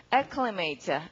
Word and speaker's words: acclimate: 강세는 어디 있을까요? 강세 맨 처음이네요. 그러니까 A 스펠링 강세 처음에 나올 때 보통 이렇게 읽죠? 자, 그럼 읽어봅니다. acclimate, acclimate 여러 번 큰 소리로 읽어두시고 부지런하게 동그라미하고 climb이라는 말이 ladder.